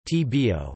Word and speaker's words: Tobago: Europina, Big Snail, although the English pronunciation is Tbo, rhyming with Lumbago, Sago, and Mago.